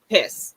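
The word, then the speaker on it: Hesse: Tight end Parker Hayes or Hasey or however you say his name, and Sam Yes. Jones. Hess.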